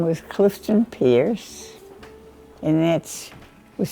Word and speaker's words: Peirce: My husband's name was Clifton Pierce, and that was spelled with a P-E-I, and I always say no pie in this Pierce.